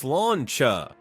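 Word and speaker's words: sláinte: In an Irish pub, you may hear the term slánte, pronounced sláncha.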